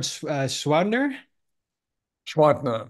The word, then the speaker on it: Gschwandtner: last name and Gerard schwader schner you don't pronounce the G schwader okay perfect I